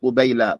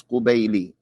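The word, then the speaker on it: قبيلِ: This lamb should have a kasra on it. I said قبيلي. I said قبيلة, but it's قبيلي. It should be قبيل الفجر.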